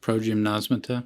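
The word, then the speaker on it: progymnasmata: How do you pronounce that word by the name? Progymnosmata?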